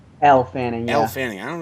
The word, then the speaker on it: Elle Fanning: Ellie Fanning? Elle Fanning, yeah.